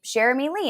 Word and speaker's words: Cherami Leigh: she heard me slate my name and say shermy Lee and she's like and I had done a